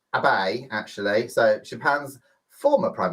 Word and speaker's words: Abe: Number 5, Japan's Prime Minister Shinzo Abe, pronounced Abe actually.